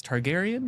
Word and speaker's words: Targaryen: It begins with House uh I'm going to get this name wrong. I keep saying it wrong, but it's Targaryen.